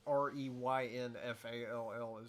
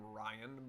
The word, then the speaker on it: Reynfall: But it was what was there, and it's spelled the closest to rainfall. I have had people pronounce the name Ryan before, which is hilarious. But most people generally pronounce it correctly the first time.